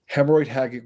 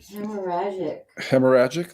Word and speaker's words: hemorrhagic: Hemorrhoid hagic viruses. Hopefully I pronounced that right. But let's go much deeper. Let's go much deeper. Hemorrhagic. That's how you pronounce it.